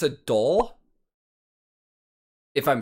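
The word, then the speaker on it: dhol: i think it's a doll if i'm saying that right i think it's spelled d-h-o-l uh double-sided sounds awesome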